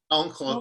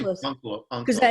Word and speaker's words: Onkelos: How do you pronounce it, Harold? Onkelos. I say Onkelos.